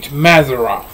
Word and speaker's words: Mazzaroth: good term name mazeroff it's m-a-z-z-a-r-o-t-h mazeroth and if i butchered it i'm sorry it's a that's the clean that's the straightest way i know how to pronounce it say it sounds right to me so that's the way